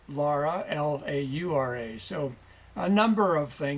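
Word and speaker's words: Lora: your wife's name is Laura, usually pronounced Laura, but Laura, Laura.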